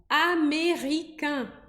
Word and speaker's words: américain: Ou então, américain, americano.